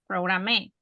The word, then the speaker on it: program: Because it's not program, programe. No, right? It's program. So the accent is on the first syllable.